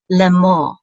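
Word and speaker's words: לֵאמֹר: And then we have a lamed with its tzere, and the aleph together will say le. So the tzere says and then we have a mem with a cholem, which is mo, and then the resh closes the syllable out as mo, lemor.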